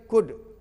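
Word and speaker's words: could: आगे देखिए, तो WL के वाक, वालक नहीं बोलना, TL के टाक, टालक नहीं बोलना, HLP हाफ, हालफ नहीं बोलना, CULD कुड, कुलट नहीं बोलना, इसे तो SHOLD शुड, सुलट नहीं बोलना, और FOL की फोक, ये फोक माने लोक भी होता है, जनसमूह भी।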